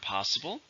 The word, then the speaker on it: possible: it comes with word possible which means something that could happen it was an adjective how many syllables are impossible three stress in the first possible if possible